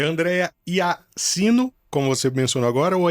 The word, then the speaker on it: Iaccino: É Andréia Iacino, como você mencionou agora, ou é Iatino? Então, você escreve Iacino, né? IACCINO, mas a pronúncia é Iatino.